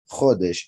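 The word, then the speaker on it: חודש: which comes from hadash same letters pronounced differently khadash is new khadesh is month because of the jewish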